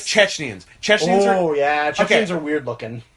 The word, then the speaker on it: Chechens: Sorry, I'm saying it wrong. It's Chechens, right? Even though it's Chechnya. Yeah, it's Chechens. It's Chechnya. Yeah. They should be Chechnyans, Yeah. but they are Chechens.